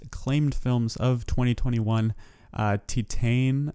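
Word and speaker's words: Titane: films of 2021 uh titan i believe is how you pronounce it and another one that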